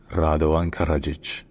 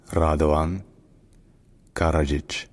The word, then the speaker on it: Radovan Karadžić: war crimes and genocide locally in Serbian his name is pronounced ran kajic ran karajic radan kajic R and karajic all